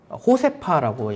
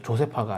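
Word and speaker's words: Josefa: 호세파라고 얘기해도 조세파가 아니라 호세파. 어, 스페인 사람은 제일를 H로 발음하니까.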